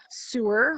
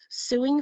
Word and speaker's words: sew: to pronounce English words it's so not sewer we don't go around suing fabric we sew fabric yeah so yeah that's